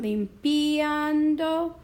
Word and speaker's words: limpiando: On this duo right here, limpiando, I need to decide if I want limpiando or limpiando. I kind of like them together, so I want to keep those guys together. And so I don't need to do anything because the strong A is already overpowering the weak I, and those two together are forming diptongo.